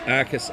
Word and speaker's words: Arcus: And look, I do apologize to Max Arcus. I misread my notes. I've been pronouncing his name as Akus. So I do apologize for that. To the Arcus Faro.